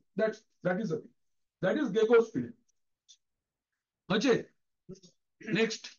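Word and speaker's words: GECOS: है, इसको हम लोग बोलते हैं गेको field, गेकोस field, GECHOS, गेकोस। Open source में क्या मजेदार नाम है देखो, गेकोस फील्ड, क्या स्पेलिंग है?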